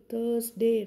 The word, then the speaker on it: Thursday: T-H-U-R-S-D-A-Y. Thursday. Not Thursday. Here R is silent.